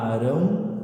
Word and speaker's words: Arão: Josué, Arão, tem 2 As no começo, então a gente duplica o A, a pronúncia dele.